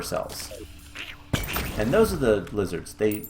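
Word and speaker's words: Lihzahrd: But yeah, so the lizards themselves, and they are called lizards. Ow. If we break one of their statues, it's spelled weird, lizard, but it's still pronounced lizard as far as I'm aware.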